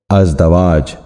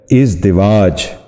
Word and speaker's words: ازدواج: درست تلفظ ہے ازالہ۔ آج کا پانچواں لفظ ہے ازدواج، جو غلط تلفظ ہے۔ درست تلفظ ہے ازدواج۔ دوبارہ سنیے، درست تلفظ